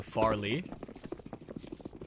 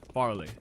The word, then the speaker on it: Farlig: The G in Farlig is a silent letter, so Farley. Farley.